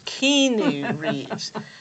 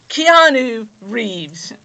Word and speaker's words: Keanu Reeves: Now, this was 1992, and back in 1992, none of the talk show hosts knew how to pronounce his name. He kept getting introduced as Keanu Reeves.